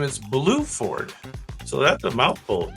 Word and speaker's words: Bluford: I think you pronounce his name Guion, Guion, G-U-I-O-N, and his last name is Bluford. So that's a mouthful. Guion Bluford.